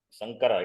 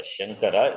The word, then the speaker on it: Sankara: Sankara, it is not Shankara, Sankara. So you have to pronounce properly.